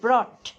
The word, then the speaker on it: brought: Bring এর past tense ব্রট, BROUGHT, উচ্চারণ হবে ব্রট।